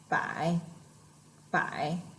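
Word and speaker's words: 百: by you can tell this is a third tone so remember when you pronounce third tone you try to lean your chin back and then try to pronounce very low by by all right so this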